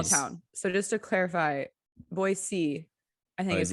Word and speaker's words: Boise: so just to clarify boise i think is how it's actually pronounced there's no actual z um but it's not